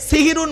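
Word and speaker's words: সাহরি: সেহরি নয় শব্দটা, শব্দটা সাহারি। দন্তেশয় একার আর দন্তেশয় আকারের পার্থক্যটা কি শুনে নিন। দন্তেশয় একা, সিনে জেদ দিলে সিহিরুন মানে হলো জাদু করা, কোরআনে আছে হাদা সিহিরুম মুবিন।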